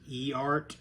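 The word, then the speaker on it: Eart: They should probably, for low-cost guitars, they should probably take some lessons from I think it's pronounced E-Art, E-A-R-T.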